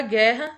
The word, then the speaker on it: guerra: E na palavra guerra, a mesma coisa. A gente pronuncia, tem as duas letras, o G e o U, mas a gente pronuncia apenas como se houvesse só o G. A gente não pronuncia o som do U.